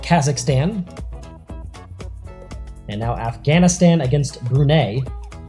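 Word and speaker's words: Brunei: and now Afghanistan against brune or brunai depending on how you want to pronounce it but here on marble F we're going to pronounce it brune they're in the yellow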